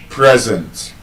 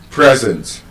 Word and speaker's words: present: As an adjective, that word is still present. present So, for example, you can say, the speaker is present.